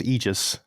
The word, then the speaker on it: Aegis: We were all pronouncing it wrong. It's Aegis.